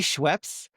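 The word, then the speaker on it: Schweppes: Um, so I think it's supposed to be Schweps, but between me, my brother, and our cousin, um, it's Schweps.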